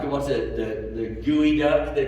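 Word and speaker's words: geoduck: will never eat like the ones that the gooey duck they pronounce it's like what kind of duck is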